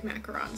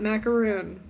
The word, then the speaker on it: macaron: people really really like macarons so this is a crochet hard macaron and it's pronounced macaron not macaroon even though I don't